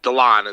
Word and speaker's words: Delon: a nice selling prize yeah delon is how it's pronounced oh delon yeah so